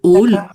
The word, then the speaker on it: hall: En fait, c'est simplement la l'origine, le hall.